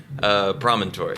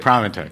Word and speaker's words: Promontory: How do you pronounce it? Promontory. Promontory.